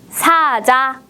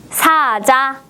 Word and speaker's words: 사자: 뭐예요이 동물은 사자입니다 사자 사자 사자 몇 번이 자일까네 잘해 했어요 바로 1번 사자입니다 두 개의 음절 모두 바람도 많이 내보내지 않고 힘도 주지 않고 보통의 발음으로 발음했다 문제를 볼까요 한국 사람들이